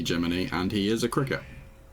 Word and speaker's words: Gemini: And it's spelt Gemini, but it's definitely Gemini, and he is a cricket.